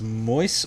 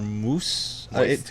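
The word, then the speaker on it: Moïse: k-i-e-r-a-n okay kieran uh i want to say his last name is pronounced mois or moose it's m-o-i-s-e but the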